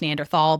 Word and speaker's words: Neanderthal: you know, I think I grew up thinking it was pronounced Neanderthal, but apparently it can be both because it comes from a valley in Germany that can be pronounced in a number of different ways.